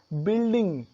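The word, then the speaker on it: building: Next is बिल्डिंग, बी यू आई एल डी आई एन जी, बिल्डिंग, बिल्डिंग जानते ही हैं आप, अक्सर आप सुनते हैं बिल्डिंग। तो यहाँ पे यू का उच्चारण नहीं हुआ, यू साइलेंट है।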